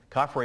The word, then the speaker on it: Khafre: Khafre is spelled K-H-A-F-R-E.